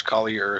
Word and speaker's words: Collier: Josh Collier says hello absolutely correct pronunciation hi Josh good good to see that you're watching and tuning in yeah I don't I don't know why Mason didn't they pronounce that I I thought it was color so like I definitely